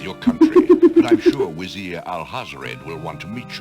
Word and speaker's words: Vizier: text on screen, yeah, they do for some reason pronounce Wazir. Lord Al-Hazred, a visitor to see you. Prince Royal Alexander Vizier.